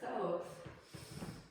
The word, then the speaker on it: Thoth: And the word thoth actually sounds like the word thought.